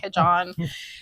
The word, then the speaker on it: Cajohn: I don't know, Cajohn. Yeah, the guy's name was John. The guy's name is John, so it's like Cajohn.